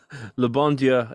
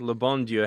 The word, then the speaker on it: Le Bon Dieu: Both have three syllables. At least I think Le Bon Dieu has three syllables.